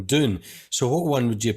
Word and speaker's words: Dune: it differently twice right once you've pronounced it more of this sort of Scottish way of doing it and saying June rather than Dune so what one would